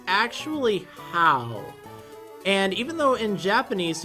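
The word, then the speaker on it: Hau: So I said Ha in my recent video, the new rival in Sun and Moon, but you know what? I think it's actually How.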